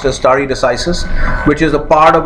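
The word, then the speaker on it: stare decisis: understand or remember is story decisis this is pronounced istari decisis which is the part of a longer latin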